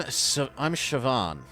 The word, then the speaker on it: Siobhan: I'm Siobhan. My name's on the door. That's how you pronounce it.